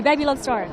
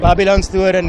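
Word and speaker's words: Babylonstoren: pronounce it? Okay, Babylon Storen. Babylon Storen, yeah.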